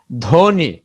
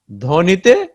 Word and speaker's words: ধ্বনি: শব্দের শুরুতে ব ফলা যুক্ত হলে তার উচ্চারণ হয় না। কোন শব্দের শুরুতে যদি ব ফলা থাকে তাহলে এই ব ফলার উচ্চারণ হয় না। কেমন? এই যে দেখি আমরা একটু উদাহরণ। ধ্বনি ধ ব, এটা যুক্ত ব্যঞ্জন ধর সাথে শুরুতে যুক্ত হয়েছে, এই কারণে ধ্বনিতে ধ্বনি ব ফলার কিন্তু কোনো উচ্চারণ নাই।